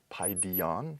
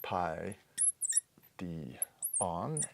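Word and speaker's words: παιδίον: noun word for child PI D on pi D on and it's persistent accent wants to fall on this and ultimate syllable PI D on and you can tell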